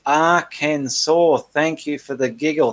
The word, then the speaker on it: Arkansas: Angela Lamb, it's pronounced Arkansas. Thank you for the giggle. Thank you. I've got it now. It's pronounced Arkansas.